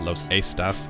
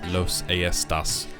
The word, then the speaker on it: Los Aestas: on mass that uh it's not in fact pronounced Los estas it's Los AAS which is good because it sounds even better